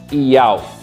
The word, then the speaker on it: Iau: He Vav He, significa Iau. Por quê? Pegando o tetragrama, que é Y, H, W, H. Os dois Hs são mudos, eles não têm som na pronúncia.